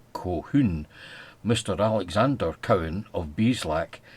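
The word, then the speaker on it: Colquhoun: Two, it may be a corruption of cahune, the common pronunciation of which is Cohun.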